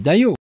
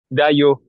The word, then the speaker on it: Dajo: J'ai bien dit Dayo. Dayo. Bon, là c'est sûr, je le prononce correctement.